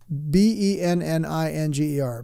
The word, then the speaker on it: Benninger: your corporation Fred meninger b-e-n-n-i-n-g-e-r benninger I guess would be the right way to say that Fred benninger MGM chairman